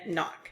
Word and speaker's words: knock: in our language so when I have a Ken at the beginning of a word it just makes the n and I don't hear that K and so we would explicitly teach and learn the words that have that silent k and there are others